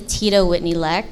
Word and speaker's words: Tidawhitney Leck: My name is Tidawhitney Leck, that's how you pronounce it, but I go by the nickname Tida.